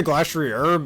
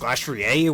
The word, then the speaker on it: Glastrier: I say Glastrier, but apparently it's supposed to be pronounced Glastrier, which is stupid, but whatever.